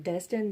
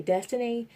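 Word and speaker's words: Destine: is Destin but legally there is an e at the end of it but it's a silent E so it is pronounced Destin but some people when they see my legal name legal first name they call me destiny and it really irritates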